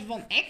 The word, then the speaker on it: Van Eck: This is called von Eck sequence. Since I'm Dutch, I can pronounce it correctly.